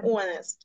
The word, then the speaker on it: honest: Софія, літера H не вимовляється, так? To be honest.